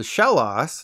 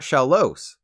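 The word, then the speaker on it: Shellos: Mana speaking of loss this is called shellas not shalos I'm sorry to anyone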